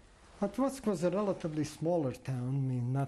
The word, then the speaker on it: Otwock: we now settled in Otwock. Otwock is spelled O-T-W-O-C-K, but the C is pronounced always as a T-Z in Polish. Otwock was a relatively smaller town.